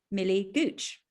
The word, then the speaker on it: Millie Gooch: So I'm really excited this week to be chatting to Millie Gooch. And actually, I checked with Millie beforehand. I've pronounced her name right.